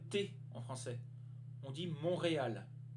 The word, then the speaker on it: Montréal: à la prononciation de la ville on ne prononce pas le thé en français on dit montréal montréal montréal d'accord numéro 5 qui nous a un est